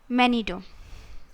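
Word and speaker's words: Manito: and many do though it is written m-a-n-i-t-o but it is pronounced as manido gichi manido was the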